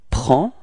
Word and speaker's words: prend: Il and elle, so masculine, il, we get il prend. Okay, so same pronunciation, final D is not pronounced, so it's only the P-R-E-N, prend.